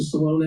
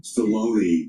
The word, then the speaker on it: Stallone: Guys, Sylvester Stallone, that's how you say it, right? Stallone? Stallone.